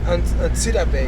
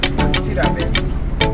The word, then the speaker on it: Antsirabe: Antsirabe. Antsirabe. Antsirabe. Yeah. All right, so that's how you say it. I've been saying it wrong the whole time. Antsirabe.